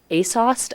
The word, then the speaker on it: ASOS: to say that mouthful as a Asos I think is the acronym pronunciation we've decided on but that stands for